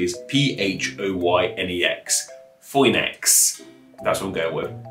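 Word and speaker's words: Φοῖνιξ: you're special to me that oy sound in the middle of phoenix was made with those two greek characters and if you look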